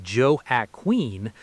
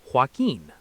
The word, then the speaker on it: Joaquin: While people accidentally say Joe at Queen, the standard American industry pronunciation is Joaquin.